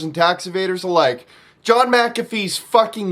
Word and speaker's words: McAfee: you've ever heard of the antivirus software mcafee or mcphee however you want to pronounce it it's actually mcafee that's him john mcafee